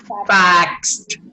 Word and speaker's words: faxed: What is the pronunciation in past? Facts. Faxed. Faxed. Facts.